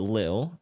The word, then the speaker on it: Ailil: So what exactly made Ailil or Lil, depending on how you like to pronounce it, what exactly made Ailil